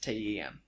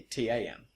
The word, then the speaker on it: Tamworth: So there's that, and then at the same time there's people from Tamworth pronounce it TEM. Yeah. It's people outside Tamworth say TAM.